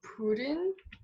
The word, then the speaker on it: Pureun: I got it's pronounced kind of like Pureun, but like you roll the R a little more. Pureun?